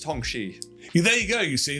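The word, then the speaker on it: Hongqi: So, I think it's pronounced Hong Xi.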